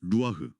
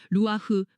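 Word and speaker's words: רוח: 루아흐. 발음부터가 약간 바람 소리 같네요.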